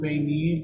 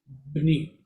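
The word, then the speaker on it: בְּנִי: When you add my, it's, how does it go? Not Beni, but Bni.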